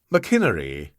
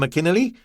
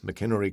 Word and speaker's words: McInnery: McInnery and the Cauliflowers. "I find you well, Mr. McInnerly?" Ah Wong asked courteously. He pronounced the name as McInnerly, and although 10 years